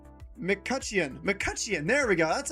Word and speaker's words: McCutcheon: McCutcheon.